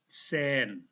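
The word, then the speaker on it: zehn: Ada H di belakang huruf hidup, maka H-nya tidak dibaca tetapi E-nya dibaca panjang. Z diawali dengan T dan S. Sen. Sen.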